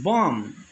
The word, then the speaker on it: bomb: or bomb it is bomb the letter lost b is silent climb is it climb